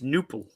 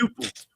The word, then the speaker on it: Knueppel: It's Knueppel. Yeah. I think it's Nupal. Interesting. I think the K is silent. Uh-huh. Where's he from? I don't know. Oh, Milwaukee. He's from Milwaukee? He's from Milwaukee. Oh, my God. It's definitely a silent K.